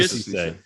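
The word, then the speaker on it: Cissé: all right, I'm not getting bit by the pronunciation. Is it Cisse? Yes. Musa Cisse.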